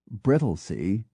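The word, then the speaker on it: Brightlingsea: be remarkably convol uted brittley spelled b r i g h t l i n g e a according to pH reies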